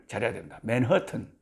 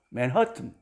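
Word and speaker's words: Manhattan: ( 맨해튼 발음 을 정확 하게 해야겠네 요 .) 알고 보니 " 맨해튼 " 의 악센트 는 중간 악센트 였습니다 .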